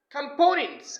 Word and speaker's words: components: next one is components it's not component it should be components components means acha okay components is a part of something right like you can say this uh airplane has four main components components not components the next word is